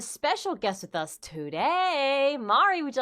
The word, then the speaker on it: Mari: guest with us today Mari would you like to say hello to everyone uh hello hi Mary no it's Amari hi it's me Mari telling you how to say